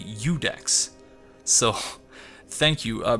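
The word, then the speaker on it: Iudex: was pronouncing I think I was pronouncing it uex in the previous episode but it's actually udex so thank you uh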